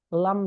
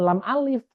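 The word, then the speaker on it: لا: Kalau di sini menggunakan takbir la, maka eh, yang dimaksud adalah seluruhnya, lam dan alif. Tapi dibacanya bukan lam alif, tapi la, la.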